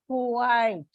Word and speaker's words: Kuwait: I gave you the example of Kuwait. We pronounce, in India, we pronounce it as one single syllable. But if you check, it's a diphthong and there are 2 vowels.